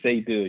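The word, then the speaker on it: Seydou: S E Y D O U Saydou. You'll get it. Saydou. S E Y D O U? Yes, S E Y D O U. Yes, Saydou.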